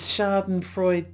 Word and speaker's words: Schadenfreude: Schadenfreude. Actually, I think the way it's pronounced correctly is Schadenfreude with a little at the end, but I just say Schadenfreude.